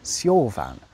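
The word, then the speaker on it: seofon: Now, in Old English, an F was pronounced how we pronounce it now if it was at the start or the end of a word, such as fader, meaning father, or wife, meaning woman. But when it came in the middle of a word, specifically between two vowels or after a voiced consonant, of which L is one, something amazing happened. It was pronounced like a V.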